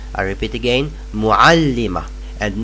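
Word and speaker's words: مُعَلِّمَة: and it is pronounced muallima. I repeat, muallima. I repeat again, muallima. And notice that these ta' marbuta are not pronounced.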